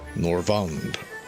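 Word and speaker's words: Norvrandt: Norvand. T is silent, I'm told. Norvand.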